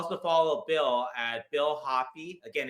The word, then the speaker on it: Hoppe: It's spelled Hoppe, but Bill Hoppe.